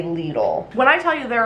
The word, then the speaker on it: Lidl: a little all Lidl I always hear people pronounce it little but I think in the commercial they say Lidl when I tell you